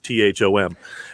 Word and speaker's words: Thom: letting you know that it was Tom with an H, Thom.